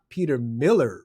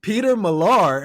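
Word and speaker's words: Peter Millar: And finally someone corrected me and they said he Steve it's not Peter Miller bro although I love the way that you're pronouncing it. It's Peter Malar.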